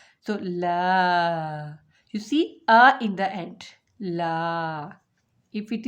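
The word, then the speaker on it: عين: And for ain is pronounced from this part, middle part of the throat.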